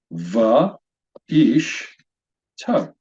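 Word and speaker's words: ואשתו: This word is pronounced va, ish, to.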